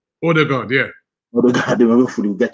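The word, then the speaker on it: Ødegaard: Hopefully we'll get to see, how do you guys pronounce it? You know me, I'm not good with names. Is it Odegaard? Odegaard, yeah.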